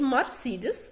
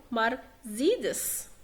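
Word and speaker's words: Mercedes: O umlaut أو U umlaut يلفظ زين زي مرسيدس. تمام، ما بقولش مرسيدس غلط، بقول مرسيدس، باخد بالي من النقطة دي.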